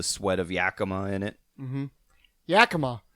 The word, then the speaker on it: Yakima: of yakima in it yakima or as people who don't know how to say it yakaima yakima yakima that's not